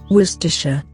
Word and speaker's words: Worcestershire: Very close, but this is how it should be pronounced. Worcestershire.